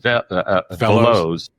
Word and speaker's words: Veloz: You can pick which one you want to talk about, but I noticed Velos, or VELOZ, and I know they pronounce it Velos.